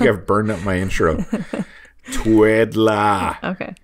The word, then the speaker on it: Twiddla: Twiddlea. Or no. No. No A. No E. Twiddla. I wanted to spell it Twiddler. Yeah. But it's not. It's Twiddla. So Twiddla, when we're talking